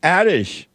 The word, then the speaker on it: Adish: to a first-time caller addish I hope I'm saying it right adish yes yes you're saying